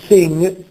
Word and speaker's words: sing: non so to sing il parlante inglese in lingua madre e chi apprende questa lingua come lingua straniera in maniera corretta non dice per esempio cosa s facendo sentire la oppure cantare Sing quella G non si deve sentire Ecco è ormai scomparsa nella pronuncia Ok poi vediamo le